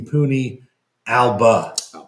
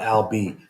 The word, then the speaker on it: PUNI Alba: And yes, Stephen, it is the Puni Alba, not Albi.